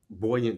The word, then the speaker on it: Buoyant: I want to speak a bit about buoyant travel. Am I pronouncing it right, Bree?